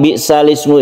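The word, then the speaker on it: بِئْسَ الِاسْمُ: alasannya ya alasannya yaitu karena Hamzah yang ada di Ismu ini merupakan Hamzah washal namanya Hamzah washal itu dia tidak dibaca Apabila ada sebelumnya kalimat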